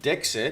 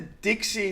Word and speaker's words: DeXe: of the evening so i pronounced that dexter but you call it dixie so did i pronounce it yes a lot of people say dexy but from the beginning it was dixie network dixie network okay i